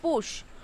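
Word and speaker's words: putsch: Okay, so the pronunciation is not push, it's push. Okay, P-U-T-S-C-H, P-U-T-S-C-H, it's a noun.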